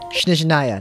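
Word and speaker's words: Snezhnaya: Shneznaya, that's how you pronounce that.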